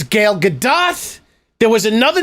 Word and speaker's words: Gal Gadot: It's Gal Gadot. There was another name that he mispronounced.